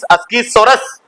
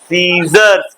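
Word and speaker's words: scissors: रखा हुआ था लिखा अकी सोरस एक तमाचा खीच करके गकी सोरस नहीं है एस सी आई सीजर सीजर्स क्या पढ़ते है सीजर सीजर्स पढ़ते है एक तमाचा में सीख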